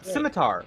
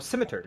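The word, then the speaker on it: scimitar: of a curved sword looks like a simitar or a Simer depending on how you'd like to pronounce it oh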